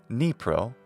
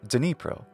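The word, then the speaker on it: Dnipro: the globe most English speakers name the river nepro or denipro from Ukrainian there's also a city called the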